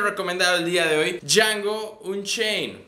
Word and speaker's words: Django: el día de hoy Django un Chain la d no se pronuncia Aparentemente Así es la